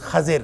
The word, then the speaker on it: خضر: میں آیا ہے، اور اس کا صحیح تلفظ خضر ہے، خاء پہ زبر ہے، ضاد کے نیچے زیر ہے، اور خضر جس کا